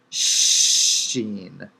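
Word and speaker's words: שׁ: on the left seen dot written on the right sheen and finally tav makes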